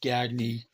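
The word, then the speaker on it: Gagné: He pronounces it Gagy.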